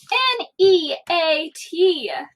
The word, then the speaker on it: neat: N-E-A-T. Where are my vowels? E and A. Any guardians? No. 2 vowels? No guardians. E-A. The A is silent, the E is long.